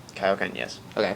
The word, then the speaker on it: Kaioken: Did I pronounce that right? Kaioken, yes.